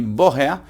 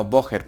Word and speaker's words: woher: Aquí la única duda que tienen ustedes es porque se dice woher y no woher. Pues como les he dicho antes, la terminación ER se pronuncia una A, la H es una H, por así decirlo, tú dices hallo, ¿no es?